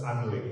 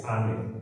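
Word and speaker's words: Alnwick: So Anik Garden is not pronounced as Anik, it's Anik, okay?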